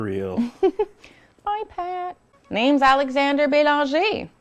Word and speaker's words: Bélanger: Well, there's no accent, but it's a French name, so I But figure...